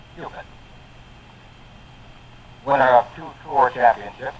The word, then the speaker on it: Cupit: He says if you want to remember how to say it properly, just remember Q stick like in pool. It's Cupid.